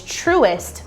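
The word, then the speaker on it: Truist: want to talk to you all about is truest bank and that's spelled t-r-u-i-s-t this is another great bank to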